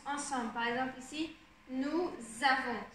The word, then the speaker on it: nous avons: Par exemple ici, nous avons. Ça se prononce comme un Z, ça va ensemble.